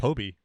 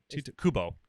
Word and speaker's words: Kubo: Who's Toby? It's not Toby? You mean the artist? The author? Kobe? Kiba? Oh. Is it Kobe or Toby? No. Am I saying it wrong? Kubo.